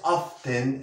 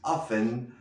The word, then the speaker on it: often: No es often, es often. La T nos la comemos.